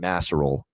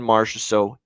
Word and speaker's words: Marchessault: So I don't mind the John Masserol look here as far as goal props here. That never gets old. Don Cherry calling him John Masserol.